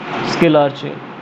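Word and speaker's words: scalar chain: इसको वैसे pronounce स्केलार चेन से करा जाता है।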